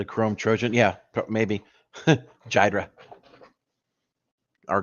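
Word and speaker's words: Ghidra: Jydra. Or Gydra, how you pronounce it? Gydra.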